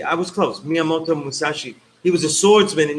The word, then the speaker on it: Miyamoto Musashi: I think it's Miyamoto Musashi, something like that. I butchered that, so now I have to look it up. Yeah, Miyamoto Musashi. I was close. Miyamoto Musashi.